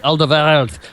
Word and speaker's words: Alderweireld: Now, I'm going to get the pronunciation right because there's a ch in there. Toby Alderweireld.